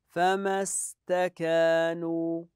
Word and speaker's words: فما استكانوا: فما استكانوا فما استكانوا لاحظوا هذه همزه وصل لا تنطق في حال الوصل فمستكانوا اذا الايات والكلمات سهله